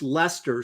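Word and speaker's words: Leicester: Henry beam is correct he says says this pronounced Lester so it' be da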